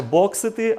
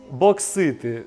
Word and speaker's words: боксити: Не боксити, а боксити.